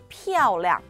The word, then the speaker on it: 漂亮: 자, 우선 발음부터 보시면, 피아오량, 피아오량.